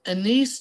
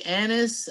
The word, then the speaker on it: anise: It is anise tree. You may say anise, A-N-I-S-E. I think both pronunciations are correct.